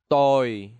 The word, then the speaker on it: tôi: For example, tôi.